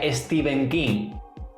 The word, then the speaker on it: Stephen King: no es otro que stephen kim por cierto se ve que en realidad se pronuncia steven king bueno yo esté bien